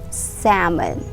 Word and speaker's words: salmon: is not pronounced as salmon salmon no we pronounce this word as salmon salmon you remove the l sound salmon salmon say it all right so yes it's